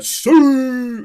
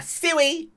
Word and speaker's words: Sue: And it'll be a Sue, not a Suey, because I hate that.